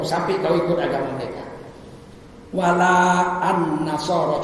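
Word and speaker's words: وَلَا النَّصَارَى: wala an-nasara. Cuman karena itu diwasolkan bacanya walan nasara, tapi tulisannya beda.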